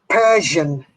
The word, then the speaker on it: Persian: Yes, and the pronunciation of Persian, Persian, the Hindu Persian. Persian, Okay. Okay, Persian. there's Persian. two syllables, Persian, Persian.